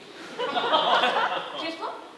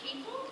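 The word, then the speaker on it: Kiefel: Kifler? Oh, actually, it's pronounced Keeple.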